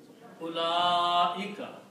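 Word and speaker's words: أولئك: La has alif and a mad, so it should be pronounced la ika. Ula-ika.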